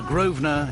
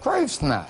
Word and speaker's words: Grosvenor: You don't pronounce the S. Grosvenor.